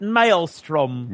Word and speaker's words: maelstrom: So apparently in Britain they pronounce it Maelstrom. Maelstrom. But I think if they're making fun of you now, John, with whatever you're doing, tomorrow try Maelstrom.